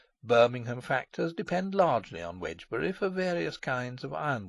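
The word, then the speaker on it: Wednesbury: Wsbury, pronounced Wedgebury and spelled Wedner's Berry in Doomsday Book, stands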